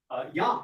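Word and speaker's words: ים: So they borrowed the word Yam, meaning sea, pronounced in Hebrew Yam or in Phoenician as either Yom or Yum.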